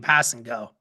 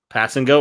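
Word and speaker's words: Kpassagnon: pronounce his last name pass and go pass and go really yeah it's literally how it is because the k is silent oh okay i would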